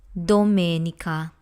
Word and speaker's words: Domenica: Italian let's start with Dominica this word is Sunday in English so this has four syllables door may me ha in Italian the letter O is